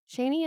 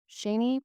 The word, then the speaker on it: Shani: my next guest is shanie and she is an author and podcast originally from Fort Worth Texas her name is pronounced rainy with an sh and her book a